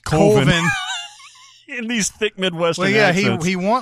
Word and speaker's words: Coven: The other one is just following along, and they're trying to make a horror movie called Coven, which is pronounced Colvin.